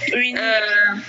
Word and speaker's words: Winnie: Winnie. Pardon? C'est Winnie. Oui, c'est Winnie. Winnie. Comment ça s'écrit?